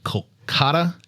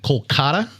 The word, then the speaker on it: Kolkata: of service to the poor and sick in Kolkata, India died just 5 days after Diana? Say that location one more time. Didn't sound right. Kolkata. Kolkata.